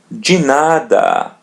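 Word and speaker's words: de nada: As you see when we connect of which means the to another word to make the expression you're welcome we're going to pronounce it as G the same thing as in tang remember now ask everything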